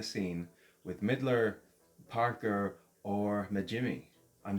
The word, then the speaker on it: Najimy: with Midler, Parker, or Najimy. I'm saying Kathy's name wrong. I know it. Not Jimmy. Najimy, but it's one M.